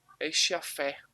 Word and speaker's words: Schaeffer: Schaeffer, se pronuncia dessa forma, tá?